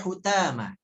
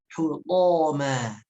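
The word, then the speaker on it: حُطَامًا: Kemudian hutama jangan dibaca hutama, karena saya pernah ada yang bertalaki pada kata hutama ini dibaca jadi hutama, ya. Fokus, ya, itu hurufnya to dan dibaca tebal hutama, ya.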